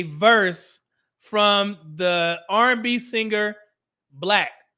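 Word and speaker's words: 6LACK: This situation reminds me of a verse from the R&B singer Black. It's spelled 6 lack, like it has a 6.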